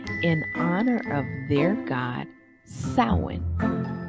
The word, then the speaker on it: Samhain: This day was the eve of the Celtic New Year in honor of their god Samhain, pronounced Samhain, like a female pig, like a sow.